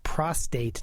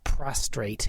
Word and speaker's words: prostate: And it's prostate, not prostrate, and it's cefazolin, that's Fazolin.